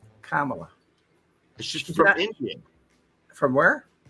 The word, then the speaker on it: Kamala: It's Kamla. Kamala.